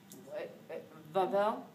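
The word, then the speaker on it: Wawel: cathedral that's of significance that's here this one pronounced vavel W's in German are have a Visa and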